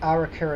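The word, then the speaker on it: Arrochar: The next stop's Arica and Tarbert. That's how you say it.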